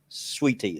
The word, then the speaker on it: sweet tea: you said it because a proper redneck version is pronounced sweee like it's one word you think I would